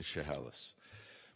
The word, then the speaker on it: Chehalis: in his early years in Chehalis excuse me in Chehalis my wife has spent a lot of time getting to me to pronounce that correctly Jay a former state